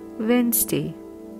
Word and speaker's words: Wednesday: need climb wreck finally Wednesday D is silent